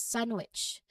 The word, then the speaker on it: sandwich: This is a word we use all the time, and again, the D is frequently silent. It's commonly pronounced as sandwich. So you'll hear the N flow directly into the W sound.